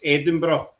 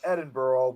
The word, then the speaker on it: Edinburgh: But one word that gets me is the Americans is Edinburgh. They always say Yeah. Edin Edinburg. That's what Yeah, that's I've always I again because maybe of the ancestry I've always said it as Edinburgh but there have but